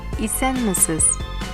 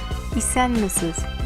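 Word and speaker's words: Исәнмесез: Let’s greeting each other in Russian ZDRAVSTVUITE in Tatar ISƏNMESEZ ISƏNMESEZ it’s means Hello!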